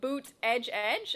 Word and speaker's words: Buttigieg: He put in parentheses how to pronounce it and put boot edge edge, and I'm like, that can't be right. That is right.